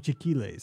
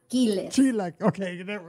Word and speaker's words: chilaquiles: Because he calls them chiquiles. So you're probably saying it better. Chilaquiles. We'll go with that.